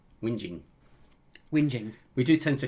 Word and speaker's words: Whinging: jerseys live at four privet drive in little winging whinging we do tend to correct each other's pronunciations uh steve says can we speed it